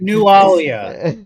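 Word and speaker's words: Nualia: Oh, Newia. Nalia. Nalia. Like New Orleans. No, like New Alia. Yeah, New Alia.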